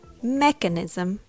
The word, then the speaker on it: mechanism: by step number one the first syllable Mech is stressed the E here has a short e sound as in the word bed so it's Mech make